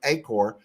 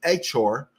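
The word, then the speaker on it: Iheanachor: Max Ienachor, I think that's Ienachor. Is that how it's pronounced? I thought it was Acor. It's Achor.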